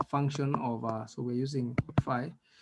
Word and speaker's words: phi: So you pronounce it as phi.